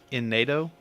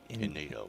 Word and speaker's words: Innuendo: In NATO. Innuendo. Spell it.